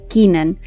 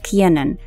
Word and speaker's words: Kiernan: Most people call him Kiernan, but he has actually clarified that his name is actually pronounced as Kiernan because his father loves sports and he actually named him after a rugby player.